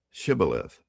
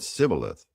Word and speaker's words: Shibboleth: Then they would say to him, "Say now, Shibboleth." But he said, "Sibboleth." For he could not pronounce it correctly.